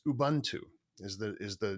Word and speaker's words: Ubuntu: and I'm going to butcher the way I pronounce this but it's Ubuntu is the is the name of this this